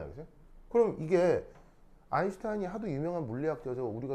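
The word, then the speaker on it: Einstein: 일석 우리나라말로 일석 독일어로 아인슈타인 있니다 독일어로 아인이 뭐예요 아 1이에요 하나 하나 이게 이거 발음 할 때 어떻게 되냐면 그냥가 아니고요 독일어에서면가 쉬 발입니다 쉬쉬쉬 그래서 스타인이 아니고 슈타인이 슈타인 알겠죠 그래 아인슈타인 그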